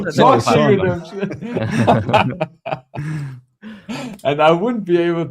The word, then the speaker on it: Shawshank Redemption: What was it? Sean's Redemption. The Shawshank Redemption. Yeah, no, Shawshank Redemption.